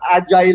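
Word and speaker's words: Agyle: So we thought of Agile as a name, spelled with a Y, A-G-Y-L-E, a lot of weird stuff, but there was always something that would clash with it.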